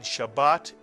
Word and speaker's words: Shabbat: Shabbat very very good it is a two vowel word so it's a two syal word and Shabbat is the Sabbath in